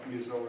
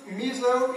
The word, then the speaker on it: Mizo: know some people said Mizu and then some people said uh miso miso and so the correct pronunciation will be mizo okay miso you please pronounce uh like as I did it uh mizo and so you spoken